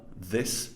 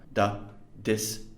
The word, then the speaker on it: this: And these are your the and th sounds. The, this, the, those, which have been incorrectly pronounced in this text as da, dis, dose.